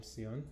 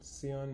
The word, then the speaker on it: SÉON: Uh we were really curious at the beginning um why they had chosen the name Seion. Seion is the South Korean pronunciation of Chan which the Japanese call Zen which means meditation.